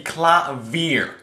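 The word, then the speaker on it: Klavier: Is that how you say it? Maybe it's Claver because he grew up in Germany, but that sounds more French. How the do you pronounce this guy's name? I believe the correct pronunciation to be Clavier.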